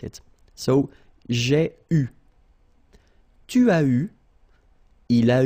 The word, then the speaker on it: eu: And this is pronounced, so it's an exception because normally you should pronounce it differently, but, so it's an exception, it is pronounced U, okay?